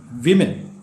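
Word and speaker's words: women: form വിമൻ നിങ്ങൾക്കറിയാം എന്നാൽ അതിൽ വന്നിരിക്കുന്ന മാറ്റം ഒന്ന് ശ്രദ്ധിച്ചേ വുമൺ ഡബ്ല്യു യുടെ ശബ്ദം ഡബ്ല്യു ഓ എം ഇ എൻ ആയപ്പോൾ വി എന്നായി വിമൻ മുകളിൽ പറഞ്ഞ എം ഇ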